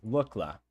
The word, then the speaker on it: Lukla: That's how it's pronounced? Lukla? Lukla? Oh, like look. Okay, Lukla.